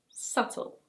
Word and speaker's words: subtle: And now some words with a silent B. This word is: subtle. That's the British pronunciation. Subtle.